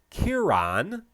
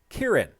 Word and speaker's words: Ciaran: It is an Irish name with a little bit of Gaelic heritage, and it is pronounced, if you are living in Northern Ireland, it is pronounced Ciaran, and if you are